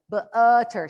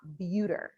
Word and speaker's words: butter: And that's why that word is butter and not buter.